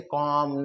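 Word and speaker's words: comb: बी के ठीक पहले एम लेटर हो तो वहां पर हम बी को नहीं पढ़ते हैं जैसे कॉम नम थम ऐसे बहुत सारे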